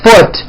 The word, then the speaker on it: foot: okay but the word foot is also spelled with a double o but it is pronounced with a lower vowel sound or foot food foot